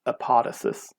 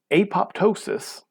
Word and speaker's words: apoptosis: called apoptosis or sometimes you'll hear it called epotisys but apoptosis which is how it's more normally pronounced is something called programmed cell death programmed